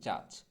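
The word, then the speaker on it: judge: আমরা অনেকটাকে জাজও বলে থাকি, তবে এটা আসলে খুব বেশি ভুল আমাদের হয় না, আমরা জজ জাজ বলি। তো জজ যদি বলে থাকেন তাহলে ভুল, সঠিক উচ্চারণটা হবে জাজ, জাজ।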